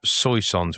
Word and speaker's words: Soissons: Chemin des Dames, Chemin des Dames, north of Soissons, which is S O I S S O N S.